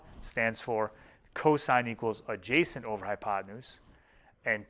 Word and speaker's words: cosine: side over the hypotenuse cosine which is abbreviates cos but we say cosine cosine of the angle